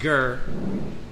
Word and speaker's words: ger: yard got yard now in English it's pronounced ger in Hebrew it's got yard what you got what